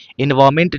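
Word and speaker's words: environment: एनवायरमेंट जब पढ़ते हैं तो एन साइलेंट होता है। इ एन वी आई आर ओ एन एम ई एन टी यहां पर देख रहे हैं एन साइलेंट है। यहां पर एन को क्या कर देंगे भैया? साइलेंट कर देंगे।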